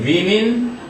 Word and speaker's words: women: 요거는 women, man, man, woman. pretty woman 할 때 그 woman이고요. 요건 women. 발음이 달라요.